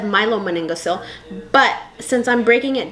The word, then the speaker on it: myelomeningocele: What form of spina bifida I want to talk about that's the most common is called myelomeningocele. I think it's actually said myelomeningocele, but since I'm breaking